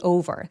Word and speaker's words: over: Over 발음할 때 over. Over 안 돼요. over. O. 우까지 입술 쭉 내미는 거 보이세요? Over. 그리고 V 앞에서는 살짝 바람이 느껴질 수 있도록 over라고 바람이 확실히 세워나오게 해 주시는 거 기억해 주시고요.